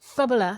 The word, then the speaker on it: Bubala: Bubala. Is that how you say it? Bubala.